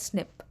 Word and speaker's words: SNP: called single nucleotide polymorphism abbreviated as SNP it's pronounced as snip further we have insertions